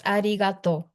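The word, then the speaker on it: ありがとう: It's arigato just to say thank you. It is arid. Yes. Arato.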